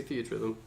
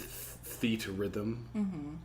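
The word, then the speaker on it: Theatrhythm: Theater Rhythm theater Rhythm how do you all say that Rhythm but my husband says theater rhythm theater rhythm theater phonetically or just reading it it is Theta Rhythm well I think they were intended for it to be theater so also we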